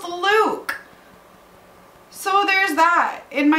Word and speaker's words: Luc: we have luke who i have been calling loose but i saw on a v.e schwab's instagram that it is pronounced luke so there's that in my head it's still